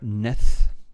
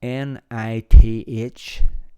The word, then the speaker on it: Nith: scotland on the river neth now i'm probably pronouncing that wrong it's spelled n-i-t-h nith or ninth not sure but a lovely little